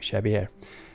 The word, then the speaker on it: Xavier: I'm using the English pronunciation of his name Xavier.